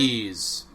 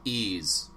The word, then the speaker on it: Ys: It's It's called Ease. Ease. Oh, okay. That's weird. Um spelled like that. I know. It's it's it's kind of a weird pronunciation of it, but it's pronounced ease.